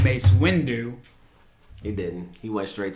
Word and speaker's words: Mace Windu: With the Mace Windu purple kyber crystal. It's Mace Windu. That's what I said. Mace Windu. You didn't pronounce the And 2. You said Matt Windu.